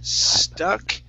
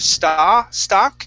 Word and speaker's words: stuck: Let's go to the word, let's see here, stuck. All right, right here, instead of stock, it's stuck. Stuck.